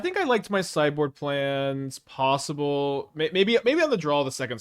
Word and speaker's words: Mai: I think that usually that's how this name is pronounced, and so, but in the show it's pronounced May. Maybe if M. Night Shyamalan had the privilege of making a sequel to his hit film, The Last Airbender, it may have had a different pronunciation of her name. But in the show, it is distinctly May.